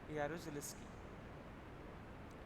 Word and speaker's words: Jaruzelski: The government led by General Jaruzelski, Jaruzelski. The spelling starts with alphabet J, but the pronunciation is Y. Jaruzelski imposed martial law in December 1981. The pronunciation is Jaruzelski, but the spelling is starting from J.